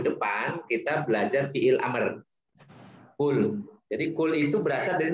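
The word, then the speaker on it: قل: Jadi fiil amr ini kul, katakanlah oleh. Jadi bacanya pakai qaf ya, jangan pakai kaf. Kalau pakai kaf, kalau kul itu dari akala yakulu.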